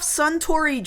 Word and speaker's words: Suntory: He's carrying bags full of knockoff Suntory Dry, yes, which is spelled like sun, like a child, a kid, a boy, sun, and tree, T-R-Y, try, sun, try, sun, try.